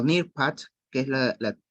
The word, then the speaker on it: Nearpod: Del Nearpod, ¿bien? Nearpod o Nearpad, que es la pronunciación correcta, vamos a poder iniciar.